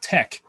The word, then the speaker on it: TeX: like and so he invented this thing called tech which is spelled t-e-x and today i'm sure i will